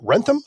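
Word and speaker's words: Wrentham: Born in Sacramento, California, and grew up in, is it Rentham? I'm sure I said it wrong. No, that sounds good. Rentham, Massachusetts.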